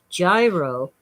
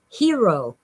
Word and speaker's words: gyro: Okay, Circle K writes what most of us pronounce as gyro, but it's really hero.